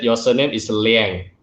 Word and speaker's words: Liang: i was growing up they pronounced the spanish way which is close it's liang right yeah so then we moved to the states and we kept saying lange so i'd say yes